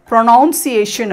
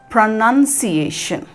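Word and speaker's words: pronunciation: அண்ட் இது பாருங்க, இது ரொம்ப முக்கியமானது, இது நிறைய பேர் ப்ரொனவுன்சியேஷன் அப்படின்னு சொல்கிறத கேட்டிருக்கேன். பிகாஸ் அந்த வேர்டு ப்ரொனவுன்ஸுன்ற வேர்டு இருக்குது, அது ப்ரொனவுன்ஸ் தான், ஆனால் இந்த வேர்டு வந்து ப்ரொனன்சியேஷன், ப்ரொனன்சியேஷன், அதுதான் சரியான உச்சரிப்பு.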